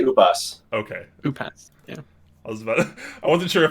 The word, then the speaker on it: Upas: it's pronounced usps how do you pronounce your name is it actually upos or have we been wrong this whole time oh i say ubus okay oop yeah i